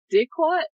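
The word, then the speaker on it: diquat: one was poisoned with dick what i believe that's how you pronounce it i'm sorry dick d i d-i-q-a-t okay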